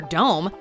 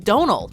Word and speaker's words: Domhnall: all of us but don't pay any attention to that M as it's completely irrelevant as far as the actual pronunciation is considered this man doesn't go by Dom or dome nor is it necessary to emphasize the middle H its just Donald like the word tonal okay though two of